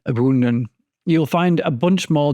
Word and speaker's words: ybounden: this little tour of Adam Le bounden or do I mean abundan you'll find a bunch